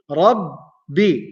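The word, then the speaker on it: ربّ: So Rabbi, Rabbi. Ba is two times because of the tashdid. Rabbi. The first time is with sukun. The second time is with the vowel. Rabbi, Rabbi.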